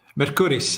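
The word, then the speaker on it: Mercouris: with the other Alex how how do you pronounce his name mercuris Alexander any relation to Mercury the god of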